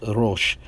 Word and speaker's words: Rosh: Rosh is spelled with an Aleph, because it's pronounced Rosh, in the Arabic transliteration, it's transliterated with a Wa.